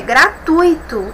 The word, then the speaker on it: gratuito: Observe, é gratuito e não gratuito.